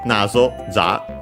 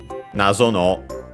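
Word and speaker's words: 謎: enigma and so uh nazo enigmatic mysterious uh nazo unacented.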